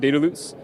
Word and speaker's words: Dedalus: Quickly about Dedalus, which is how you pronounce it, by the way. And an easy way to remember it is that we set your data loose, which is apropos for this interoperability showcase.